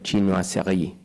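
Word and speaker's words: chinoiserie: El segundo ejemplo les voy a hablar de esto, la chinoí. Y lo digo así porque indudablemente es como lo debemos pronunciar porque la función esto es Francia y China.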